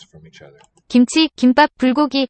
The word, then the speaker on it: 김치: And chi, 김치, second syllable, also aspirated.